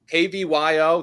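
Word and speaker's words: Klaviyo: about the IPO Market what's clavio remind me kvyo they just went public software stock oh yeah I actually do know that's how you pronounce it but all right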